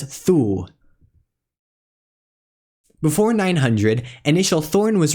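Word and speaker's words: þū: The same word may be spelled eth, U with a macron, or thorn, U with a macron, but they're both pronounced as thu.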